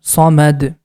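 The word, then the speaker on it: صمد: into a sukoon sign the ma sound is going to connect with Dal at the time of stop it becomes somed next word again the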